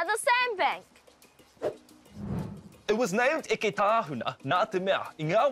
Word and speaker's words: Eketāhuna: Now, you may be mistaken for thinking it's pronounced Eketāhuna. Engari, ko te ingoa tika ko Eketāhuna.